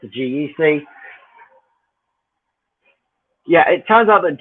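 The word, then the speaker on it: GEGEC: here's a question that oh yeah it's a geck yeah it turns out that g-e-g-e-c is actually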